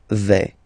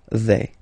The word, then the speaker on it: vais: Okay, first person here, je vais. Remember, final S not pronounced. Je vais.